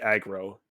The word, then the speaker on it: Agro: Hey, its actual name is, I looked this up while Alex was talking, it's actually Agro, A-G-R-O.